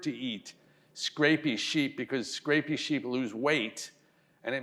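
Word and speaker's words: scrapie: a disease called Scrapy which if you think of it sort of as if a Scottish person pronounced it you know Scrapy you understand that it's like the Sheep is scraping himself so it's not actually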